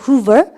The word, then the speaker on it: Hoover: 오가 겹치면 발음 길게 후가 아니고 후 이렇게 그죠? 발음할까? Hoover. 후버라 그래요.